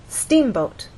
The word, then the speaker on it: steamboat: In steamboat, you will either look in a dictionary and see that the first syllable is stressed, or hear people speak, and they'll say steamboat.